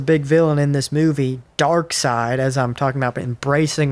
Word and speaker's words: Darkseid: So in Zack Snyder's Justice League, the big villain is Darkseid. It's spelled differently, but Darkseid, who's probably, like, if not the most powerful, one of the most powerful villains in the DC universe.